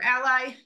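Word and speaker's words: a11y: on here that a1y some people pronounce that as Aly or Ally is called a numerum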